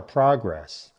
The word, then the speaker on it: progress: The main rule to remember is, for the noun form, stress the first part. For the verb form, stress the second part.